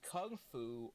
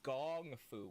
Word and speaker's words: kung fu: In Bruce Lee's time, in the 1970s, the word Kung Fu could be pronounced Kung Fu, or it could be pronounced Gong Fu with a G, which Bruce himself often did.